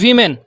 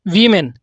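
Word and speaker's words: women: Next word is वीमेन। डब्ल्यू ओ एम ई एन वीमेन। सो यहां जो ओ है उसका उच्चारण आ रहा है ई। मींस आई। और नेशन एंड मोशन जो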